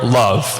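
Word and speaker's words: LOVB: Katlyn is the CEO of League One Volleyball, or LOVE, where it's L-O-V, B is silent, the largest brand in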